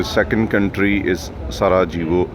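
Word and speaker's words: Sarajevo: आप देख रहे हैं सारा वो बहुत सारे लोग इसको सारा जीवो बोलते हैं जे जो है यह साइलेंट है यहां पर इसको सराव बोला जाएगा कंट्री नेम इस बोस्निया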